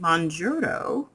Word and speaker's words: Mounjaro: name is Jocelyn and I'm starting Muro that's how you say it today I going to